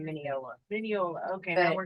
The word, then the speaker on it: Mineola: Mineola, that's how you say it.